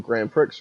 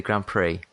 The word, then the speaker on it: Grand Prix: it's kind of like uh edited together your grand Pricks review um I finished my review for in